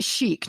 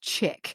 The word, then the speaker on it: chic: Chic is pronounced chic, not chick.